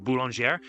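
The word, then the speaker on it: Boulanger: I believe it's supposed to be pronounced Bulonger.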